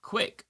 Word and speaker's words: Gwick: Gwick says Gwick is pronounced like quick.